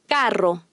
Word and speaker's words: carro: The Spanish double R is always trilled, and the single R is trilled after an N or L. Double R. Carro. Jarro. Trilled single R.